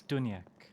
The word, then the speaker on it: Duniak: The G is silent. It's Duniak.